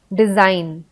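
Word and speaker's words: design: फिर जी साइलेंट होता है, जैसे बिनाइन, डिजाइन, मलाइन। तो आप सुनोगे तो आपको पता नहीं चलेगा कि जी भी होता है स्पेलिंग में। जब आप डिजाइन बोलते हो, तो अगर आपको ये वर्ड का स्पेलिंग नहीं पता है, तो आपको ऐसा लगेगा कि जी इसमें कहीं यूज हुआ ही नहीं है। वो आपको ऐसा क्यों लगता है? क्योंकि जी जो है वो इसमें साइलेंट है।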